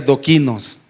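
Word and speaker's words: δόκιμος: viene de una palabra la palabra original griega que dice se pronuncia do Kinos sí es una palabra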